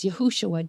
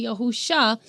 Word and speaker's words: Yahushua: I know there's a lot of people that say Yahusha, but that's because there's 4 different ways that the name Joshua is spelled in the Tanakh.